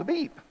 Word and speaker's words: Abib: It's called Abib. Some people pronounce it Aviv. The B and the V and Bet can be B or V.